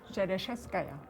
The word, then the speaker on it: Shereshevskaya: Shereshevskaya. Bravo. Right? Rena.